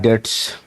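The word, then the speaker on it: debts: बोले तू जा बैड डेट्स। सोच लिए कि बाय डेट्स बाय डेट्स। तो बी साइलेंट है।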